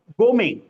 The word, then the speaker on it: gourmet: So it is Gome. Even T is not pronounced Gome.